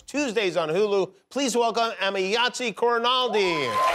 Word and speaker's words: Emayatzy Corinealdi: watch new episodes Tuesdays on Hulu please welcome amiyatzi coronaldi I hope I pronounced your name correctly you pronounce my name